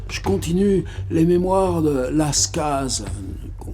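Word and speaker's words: Las Cases: Napoléon, Sainte-Hélène, je continue les mémoires de Lascaz, qu'on prononce comme ça, c'est quelqu'un du Tarn.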